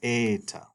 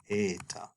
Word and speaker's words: eta: That's eta. You hear it in the name as well, eta.